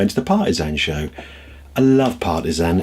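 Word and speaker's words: Potter Heigham: Partizan, we say. It's Potterheim is how it's spelt, but hey, the locals like to say it like that.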